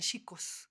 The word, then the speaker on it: Chico: En Brasil a los franciscos, en lugar de decirles pacos o cosas así, les dicen chicos, que es C, como chicos, ¿no? Nada más que pronuncian la CH como sh.